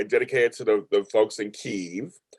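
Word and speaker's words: Kyiv: the folks in keeve that's how we're saying it now because that's how they say it like yeah because it was wasn't it at one point kiev yes that was because the russians made it that way oh so now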